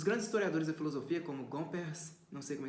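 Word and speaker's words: Gomperz: leom revolte os grandes historiadores da filosofia como gompers não sei como é que se pronuncia isso g o m p e r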